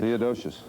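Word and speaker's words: Theodosius: I know he is, but pronounce it. Theodosious.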